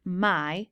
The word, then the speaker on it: my: part of the word we probably expect this letter to be pronounced but it isn't it's pronounced I when we read the word my try to remember to pronounce the letter Y as I also when you write